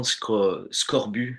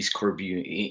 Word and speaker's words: Scorbu: Scorbu actually is pronounced that way in French. The Scorbu, it will be Scorbu in English.